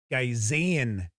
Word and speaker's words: Gazengax: I think I've been saying it was the Tomb of Gazengax. It is Gazengax. I was leaving the A out.